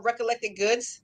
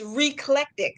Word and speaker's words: Reclectic: know how we call her recollected goods? Yeah. It's reclectic, like eclectic with Oh, an R.